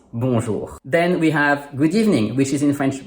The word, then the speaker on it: Bonjour: Bonjour is spelled with 7 letters but has only 5 sounds: 3 consonants and two vowels.